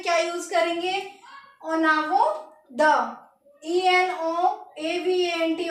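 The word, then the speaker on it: en avant de: ओनावो द, ENOAVANT, ओनावो द, in front of, ओनावो द।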